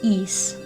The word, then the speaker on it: Ys: look it up and the general consensus to say in English anyways is east so I am gonna